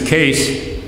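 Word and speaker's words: Kees: His name is Case. And since he didn't want him to get mixed up with Case Tractors, so he's K-A-S-E. It should have been K-E-E-S, but we don't know how to pronounce Dutch names, so he's going to be Case.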